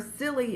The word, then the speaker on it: Cilley: And her Silly is spelled C-I-L-L-E-Y.